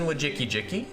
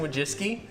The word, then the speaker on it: Wojcicki: Yeah, Susan Wojcicki. You could. That's not actually how you pronounce it. You have her, Susan Wojcicki.